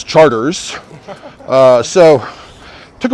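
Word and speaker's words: Chartres: is calliope you know like the city in france is charters uh so it took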